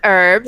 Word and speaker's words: herb: there like instead of like you know herb as we say oh don't don't you dare use that word you filthy american you say herbs we say herbs because there's a h in it actually so herbs to